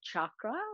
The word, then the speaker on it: chakra: series so it is pronounced chakra like a chocolate with a ch all right so i